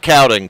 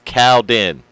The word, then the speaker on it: Cowden: So it is in fact Cowden, Coop. It's Cowden. Like the cow went to the den.